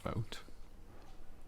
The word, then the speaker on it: Vogt: black Destroyer by AE I think van Vogt uh although I cannot I don't know how to pronounce his name um and vote uh I think that's correct uh yeah that is correct I nailed it um uh so it's